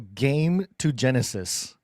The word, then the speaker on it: gametogenesis: think the in vitro game to Genesis game. I know that's not pronounced that way. Oh, I see. Yes. Gametogenesis. It's game, like a game.